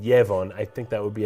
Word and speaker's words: Yevon: Ebon oh right now in English they said yevon I think that would be a Yahweh and I mentioned evam there's other reasons why in the English it's pronounced yavon but in the Japanese it's just Ebon and